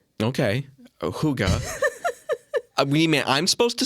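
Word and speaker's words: hygge: sure how to pronounce spelled h y g g e and it's a Danish word okay um but yeah I guess you're supposed to say Huga okay Huga you mean I'm supposed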